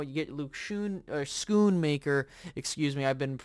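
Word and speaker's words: Schoonmaker: but you know you get Luke Shoon or schoon maker excuse me I've been mispronouncing him you know his name and I'm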